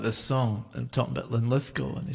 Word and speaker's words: Linlithgow: How did you choose Linlithgow for this song? And I had to be honest and say, well, it's because it has 3 syllables and the emphasis is on the middle syllable.